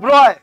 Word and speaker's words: Broglie: ব্রয় মানে, আরে ব্রয় হলে তো এটা হবে না, ব্রয় এটাকে পড়বি। ও ব্রয় কিভাবে বলছে জানিস? এটা সাইলেন্ট, এটা সাইলেন্ট, এটা সাইলেন্ট। যদি সাইলেন্ট আছে তাহলে রেখেছিস কেন বাবা?